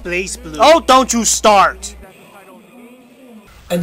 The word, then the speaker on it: BlazBlue: very first exposure of Blast blue was an anime Vegas 2010 it's pronounced blaze blue oh don't you start